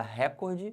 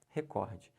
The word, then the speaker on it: recorde: o meu recorde recorde se você falar recorde você tá errando o certo é recorde primeiro como é que